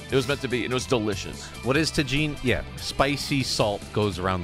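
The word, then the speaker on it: Tajín: Oh, I've been calling it tajin the entire time.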